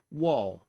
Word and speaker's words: waw: languages include venetian and the pronunciation of this uh of this letter infinition is wall and the symbol is